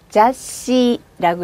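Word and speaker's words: 雑誌: 이 글자를 읽으실 때 뒤에 있는 대표음을 내려서 받침처럼 한 번에 읽습니다. 자씨라고 읽어요. 잡지는 자씨라고 읽습니다. 이번엔 한 잔 가득이라는 단어인데요.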